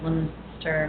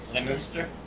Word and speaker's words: Leominster: She actually told us that they were made originally from her hometown, which is Leominster, Massachusetts. Leominster? Leominster.